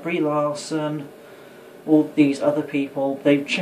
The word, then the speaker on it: Larson: For example, the cunt, Brie Larson, or as they should be called, Cheese Fire. And why? Because Brie is a type of cheese, and Larson rhymes with arson.